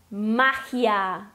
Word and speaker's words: magia: Essa é uma palavra heterotônica, ou seja, que ela muda a sílaba tônica do português para o espanhol.